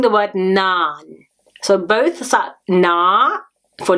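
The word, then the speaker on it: நான்: So try pronouncing the word naan.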